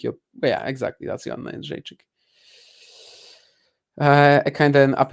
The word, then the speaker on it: Jędrzejczyk: And Joanna Jędrzejczyk is how that UFC fighter, right, is pronounced.